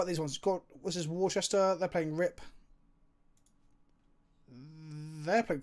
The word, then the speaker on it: Worcester: How do you pronounce Worcester, Rob? Worcester.